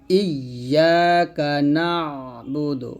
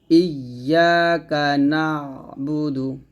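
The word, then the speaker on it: إِيَّاكَ نَعْبُدُ: ভুল হবে যা করা যাবে না বলতে হবে ইয়াকা নাবুদু নুন আইন জবর না এই আইন উচ্চারণটা চাপ দিয়ে বলতে হবে ইয়াকা নাবুদু ইয়াকা নাবুদু ওয়া ইয়াকা নাস ওয়া ইয়াকা নাসাইনু থামলে হবে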